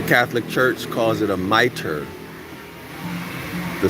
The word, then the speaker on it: mitre: that's the proper spelling there's some hebrew israelite organization that wears a meat tree that's how they pronounce it mitri but the same spelling to my understanding y'all google search it